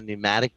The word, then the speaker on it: pneumatic: instruments we got a pneumatic drill okay i don't know how to spell that it starts with a p so yeah okay so it's like pneumonia yeah pneumatic drill and